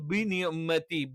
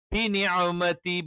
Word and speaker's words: بنعمة: ബി ബ് ബ് അല്ലെങ്കിൽ ബിനിഅമതി ബിനിഅമതി എന്നൊക്കെ പറയാറുണ്ട്. അത് പറ്റില്ല. അറബിയിൽ ഇകാരം കൃത്യമായി തന്നെ പറയണം. ബിനിഅമതി ബിനിഅമതി ബിനിഅമതി ബിനിഅമതി.